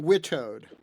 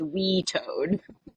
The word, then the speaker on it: WITOD: what on about family Witoed? vacay in Florida. Witoed, So, perfect. Although it sounded like John is trying to retcon our pronunciation and go with we toad. I don't think we're there yet.